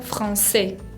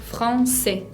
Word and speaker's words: français: O si no, la palabra français, français, significa francés.